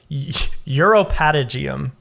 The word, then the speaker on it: uropatagium: So it's uropatagium, uropatagium is what I have inferred is how you say that.